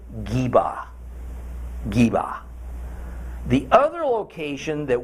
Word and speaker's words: Gibeah: meanings in this case what we in English say as Gibeah is actually more pronounced something like Jeeva Jeeva the other location